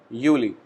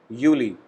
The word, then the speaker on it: Juli: Next, July, we call it Juli. Again, J is pronounced as Y, so we call it Juli, means July.